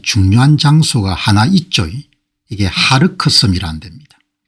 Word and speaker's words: 하르크: 그럼 이제 유가가 폭등하거나 그런 부분이 있으니까 미국도 이 부분까지 KHARG 아일랜드라 부르는데 이 발음을 아마 하르크라고 이렇게 부르는 모양입니다.